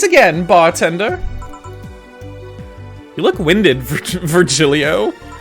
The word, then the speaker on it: Virgilio: now we meet again bartender you look winded virgilio it's pronounced vergilio no i'm pretty sure it's virgilio you said